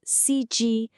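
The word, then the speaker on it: 司机: Okay, the word is s and it's pronounced cg. Let's really listen to those tones. It's a first tone followed by another first tone.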